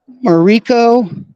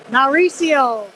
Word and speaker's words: Mauricio: This is Mariko, I think it's pronounced. Mauricio.